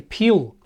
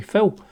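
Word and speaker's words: Pihl: surprisingly, Sammy Hagar, guitar, Gary Peel, P-I-H-L, I think that's how you pronounce it. I always thought it was Gary Phil.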